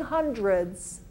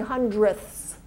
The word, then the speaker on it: hundredths: is the hundredths place kind of hard to pronounce is this HS so I'm not saying hundreds I'm saying hundredths okay this is the